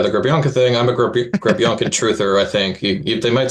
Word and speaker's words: Grebenkin: But whenever you listen to the Russian broadcast, they always pronounce it Grebenkin. So that's how I'm going to say it.